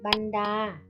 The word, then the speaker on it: บรรดา: บรรจง อ่าน ว่า บรรจง บรรดา อ่าน ว่า บรรดา บรรทุก อ่าน ว่า อายุ